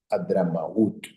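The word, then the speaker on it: Hadramaut: H-A-Z-A-R, espacio, M-A-V-E-T, coma, la moderna Adramaut, así con H-A-D-R-A-M-A-U-T, Adramaut.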